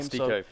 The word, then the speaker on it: Styko: They've got Oscar and Styko. I believe that's how you pronounce his name. Styko.